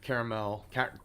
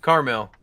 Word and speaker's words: Carmel: go to you know caramel caramel how do you pronounce it carmel carmel california yeah um so uh